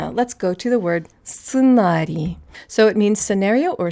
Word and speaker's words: сценарий: So an S is an S, ц is TS, just like before. Yeah, just like before, would be an E sound, an E sound, without palatalization because ц is always hard.